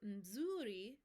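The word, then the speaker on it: mzuri: let's practice that part for zuri you kind of hum the m before that second syllable sana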